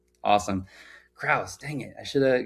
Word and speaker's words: Crouse: So Taylor Cruz, welcome to the show. Good morning. Good morning. It's actually pronounced Krauss, but thank you.